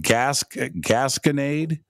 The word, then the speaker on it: Gasconade: Is it Gasconade? Gasconade County Jail, yes. Gasconade County Jail. So I've got three or four clips from there. Mm-hmm. And some of them aren't playing. But I have fourth Gasconade investigation.